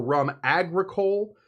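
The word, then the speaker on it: rhum agricole: This stuff often called agricole rum or rum agricole, usually spelled with an H. I'm not going to tell you where that H goes because you wouldn't believe me if I said it. It's after the R.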